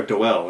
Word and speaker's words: Doel: And Anthony Hopkins is Frank Dole. Or Doel, as I believe it's pronounced.